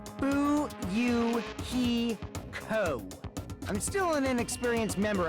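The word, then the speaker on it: Fuyuhiko: last name is my first name is pronounced who you he ko i'm still an inexperienced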